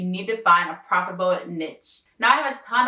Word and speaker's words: niche: And disclaimer, I know that the correct pronunciation is niche, but there's a saying out there that the riches are in the niches, and it is so true.